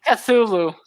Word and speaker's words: Cthulhu: So it's like a bubble in the throat, kind of thing. But everyone just says Cthulhu. It became Cthulhu.